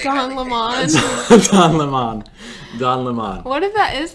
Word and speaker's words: Don Lemon: everything um once again it is don lemon and we know that's how he says his name because we've heard him say his own name and tucker doesn't say it right it's a way of